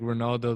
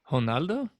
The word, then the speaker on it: Ronaldo: uh h sound huh ronaldo yeah really i think ronaldo the soccer player goes by ronaldo though i mean you might pronounce it that way but they pronounce it with a h sound yeah i got you